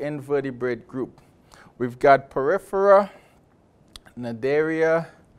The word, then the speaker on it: Cnidaria: We've got Porifera, Cnidaria, the sea is silent, Tinophora, Platyhelminthes, Nemerthia, Rotifera, Nematoda, Mollusca, Annelida, Arthropoda, Echinodermata, and Chordata.